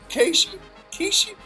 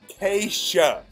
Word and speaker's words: Kesha: Should I be learning the Casey? Is that supposed to be a SH sound? Yes, sir, Butch. Butch. I don't know how you're pronouncing it. Keisha.